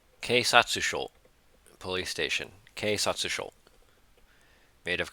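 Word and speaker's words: 警察署: How do you pronounce police station? Keisatsusho.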